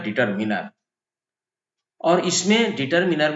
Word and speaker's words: determiner: करना और इसीलिए इसको डिटरमिनर कहते हैं डिटरमिनर्स कहते हैं इसका सही उच्चारण होता है डिटरमिनर लोग डिटरमिनर बोल जाते हैं डिटरमिनर नहीं होता है डिटरमिन होता है तो चलिए हम इसको